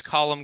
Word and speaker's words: Colum: My name is Colum, COLUM-CROSS.